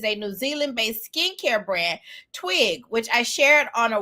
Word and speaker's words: TWYG: I kept saying TWYG, but it's pronounced Twig. So Twig, just spelled different, just like CÉCRED is.